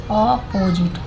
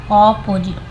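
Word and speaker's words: opposite: ठीक है from अपोजिट देखिए अपोजिट अपोजिट नहीं ऑपोजिट अपोजिट तो ओ को ऑरेंज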